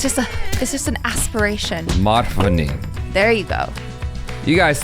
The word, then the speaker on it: Madhvani: Nope. You added an extra syllable.